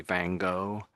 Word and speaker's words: Van Gogh: So they just say Van Gogh, Van Van Gogh, Gogh. as Van if it was Gogh. just G-O. That's how they say it.